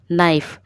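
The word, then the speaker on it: knife: हैं तो B silent नाइफ नाइफ में ये के साइलेंट है क्योंकि नाइफ नहीं बोलते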